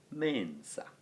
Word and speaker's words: mensa: And that, in the case of mensa, would be that form, mensa, with a short a at the end of the word.